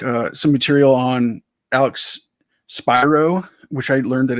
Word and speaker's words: Spiro: some material on Alex Spyro which I learned that it's actually pronounced Spyro not Spiro um I I kind